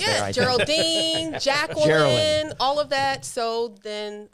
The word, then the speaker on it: Jearlyn: People can't pronounce Jearlyn. I get Geraldine. I kind of butchered it just there. I think. Geraldine, Jacqueline, Jearlyn.